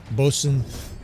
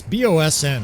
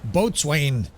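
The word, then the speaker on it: boatswain: Uh bosen it's bossn is basically the easiest way to pronounce bosen mate.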